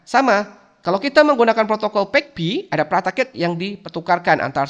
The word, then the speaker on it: PAgP: PEG-P ya. PIGP ya namanya. Tapi katanya si buku ngomongnya ya, pronounce-nya adalah PEG-P ya. Kita ngomong aja PEG-P ya.